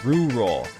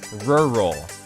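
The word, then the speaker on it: rural: Last time on Two Central, I was mercilessly bullied by some very picky people for pronouncing this word as rur roll. Listen to me this time. Rur roll. Better.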